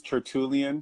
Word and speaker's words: Tertulien: names correct so yes my name is turtle Ian and that's why I thought you would pronounce it yes just as it spells yes yes yes where